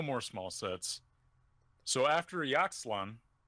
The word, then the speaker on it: Ixalan: So after Yaxlan, how do you pronounce it? I think it's Ixalan, Ixalan.